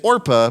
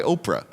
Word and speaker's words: Orpah: Oprah Winfrey because the her actual name is Orpah but it got mispronounced so much when she was a kid that she just started going by Oprah so there you go